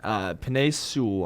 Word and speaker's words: Penei Sewell: So I'm going to say take the big offensive lineman out of Oregon, Penei Sewell. I'm sorry if I butchered his name.